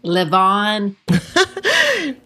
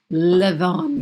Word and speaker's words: Levain: York called Levain Bakery it could be pronounced Levon but here's how it's spelled in case you know how to say it it's l-e-v-a-i-n live on the the Belgium so